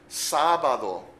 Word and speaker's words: sábado: Notice the accent on the first syllable. Sábado. If we didn't have that accent written in there, then of course it would be sábado. Because in most words in Spanish, the next to last syllable is the one that gets the emphasis or stress of the word. But in this case, it's sábado.